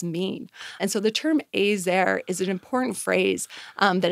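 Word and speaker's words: עזר: Even the term "ezer," I believe that's how you say it. Ezer, actually.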